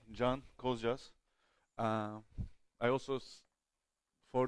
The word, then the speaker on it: Can: guests from foreign countries this is how you pronounce my name not khan or can or yan as some people make up so i will be